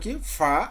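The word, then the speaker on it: ق: ফায়ের পরে ছিল কাফ, ফায়ের পরে ছিল কফ, এটা কাফ না, কফ।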